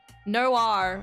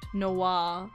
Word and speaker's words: noir: Noir is phonetically correct. Noir. Okay, so this is like without the E. It's still the same word, is what I'm hearing.